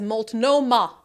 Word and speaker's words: Multnomah: Portland Bob Larson says Multnomah you had it right the first time okay just as it's spelled sometimes it's just as